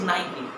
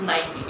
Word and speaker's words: Nike: It is Nike. How many of you have used this word like this, Nike? Very few of you. The correct pronunciation of this word is Nike.